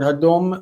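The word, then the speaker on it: הֲדֹם: Another one that jumps to mind is the word hadom, meaning a footrest. And there's another one that's really much more common. See, hadom has a reduced first syllable.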